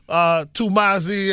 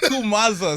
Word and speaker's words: Tumaza: America's gonna get to know Tumazi, and you know what I mean? Say it, let me hear how you say it. Tumazi. Tumaza. Say Tumaza. Tumaza.